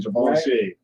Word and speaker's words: Givenchy: Let's say it right, Givenchy.